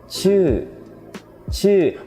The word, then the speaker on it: ชื่อ: So the first word is ชื่อ. A lot of new students, when they pronounce this word, they tend to round their lips and they pronounce it like ชู่. Well, that is not an อู vowel, okay?